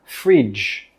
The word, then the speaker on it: fridge: This is a fridge. Fridge. Fridge. With that DG sound, it sounds like this. J, j. Your throat should vibrate as well. J, fridge.